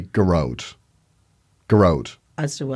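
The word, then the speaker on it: Gearóid: But I say Gearoid. Plus, in Irish, if it's an Irish spelling, which it is, right? Yeah. The thing is, the pronunciation is on the first syllable.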